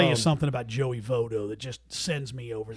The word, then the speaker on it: Votto: Votto! You're in Cincinnati. How can you not know how to pronounce Joey Votto's name?